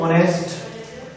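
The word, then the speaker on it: honest: इसी प्रकार और भी वर्ड हो जाते हैं, ऑनेस्ट, आवर। एक साइलेंट है, इसमें भी बोलने पे ओ आ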